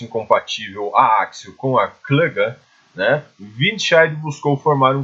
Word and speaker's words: Klage: os alemães, e o que os alemães chamavam de Klaga, né? Se escreve Klage com K, né? A Klaga, né?